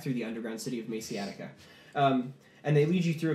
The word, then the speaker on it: Maxeatica: How's that pronounced? Maciatica. Maciatica. Attica!